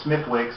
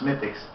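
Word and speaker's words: Smithwick's: think and it turns out that it was smithich's irish red ale um a lot of you might know it as smith wicks but it's actually pronounced mythics but um he was surprised because he hates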